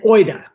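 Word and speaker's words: οἶδα: now there's gnosis and oida oh i should put the accent on the eye and then the other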